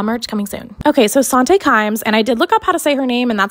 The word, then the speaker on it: Sante Kimes: of the law merch coming soon okay so sante climbs and i did look up how to say